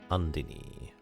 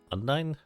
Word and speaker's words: Undine: We can now summon the water goddess Andini. Undine. It's pronounced differently in different areas.